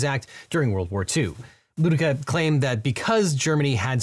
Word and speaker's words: Ludecke: In the 1948 case Ludica versus Watkins, which I apologize, I previously pronounced that as Ludecky, but in the Ludica case, the Supreme Court